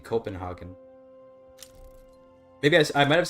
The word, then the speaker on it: Copenhagen: name for copenhaven so just pronounce it copen Copenhagen do not do the weird thing where you try to make the G sound German I don't try to